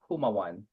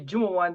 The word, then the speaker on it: Jumaw: you coach so um it's silent Jay like Jose so it's haaan so thank you for